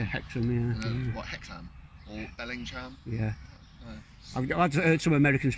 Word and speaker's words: Hexham: and um like everywhere it's like hex ham it's it's no it's actually hectic yeah i've heard some